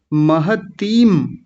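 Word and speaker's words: महतीं: आचार्य महतीम, महतीम, त पर बड़ी ई की मात्रा है और ऊपर बिंदी है, महतीम।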